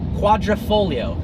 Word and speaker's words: Quadrifoglio: offering from Alpha Romeo not called The Gua quatra Porte it is called the Julia quadrifolio quadrifolio actually means for leaf